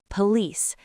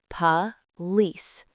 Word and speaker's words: police: Word number 3, police. It is not po-lice. The O is a ghost. It sounds like pa. Pa-lice.